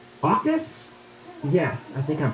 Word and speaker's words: AUKUS: Let's shift gears here and talk about AUKUS. AUKUS? Yes, I think I'm pronouncing that correctly.